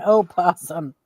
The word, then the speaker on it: opossum: What's the difference between a possum and an opossum? The O. The O. Is that their blood type? The O is silent, and possum.